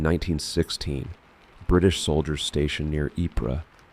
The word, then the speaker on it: Ypres: Let me tell you about the Wipers' Times. In 1916, British soldiers stationed near Ypres, which they cheerfully mispronounced as Wipers because correct French pronunciation is for people not actively being shot at, found an abandoned printing press in a bombed-out building.